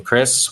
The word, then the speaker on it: Chris: I never realized my name is pronounced with basically a K, Chris Voss.